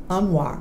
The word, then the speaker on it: Anwar: Okay, Tom, Anwar.